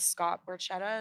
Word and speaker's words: Scott Borchetta: And then there's another girl that owns her own like stylist business, and she works with Scott Borchetta. Is that how you say his name? Yeah. Yeah.